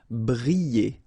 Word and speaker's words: briller: Briller. Alright, so here, I and then double L, so you get the sound y, y, y. Briller.